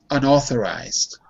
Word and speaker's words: unauthorized: Unauthorized. Repeat. Unauthorized. Unauthorized. Yeah. Careful, because it's not ow, it's all.